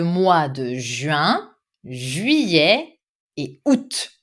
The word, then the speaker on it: août: Donc, l'été inclut le mois de juin, juillet et août. Some people will pronounce août. I do not pronounce août.